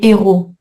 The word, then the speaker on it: héros: Donc pour éviter la confusion, il a été décidé il y a longtemps de changer le H muet en H aspiré. Les héros. OK.